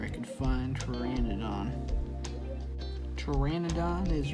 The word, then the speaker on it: pteranodon: could find trended on pteranodon is right over here remember guys the p is silent when you say it now looking for pterodactyl